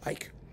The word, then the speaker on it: Ike: it's got let's see icky Hawker Smith or Ike Hawker Smith pardon me icky I like that no his name is Ike I was pronouncing it in Norwegian style um Ike Hawker Smith